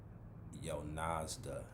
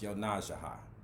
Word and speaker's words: Yonasda: some of y'all are looking at it like yo nazda but it's pronounced yo najah um it's a native american name um and